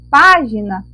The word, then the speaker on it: página: a nossa sílaba tônica na palavra página a nossa sílaba tônica é opá opá é a sílaba mais forte e lembrando em toda